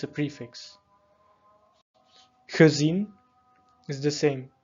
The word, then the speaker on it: gezien: So ge added to words. So let's say, for example, a verb. Can identify, okay, ge, it will be pronounced in a dof way. So gezien, not gezien.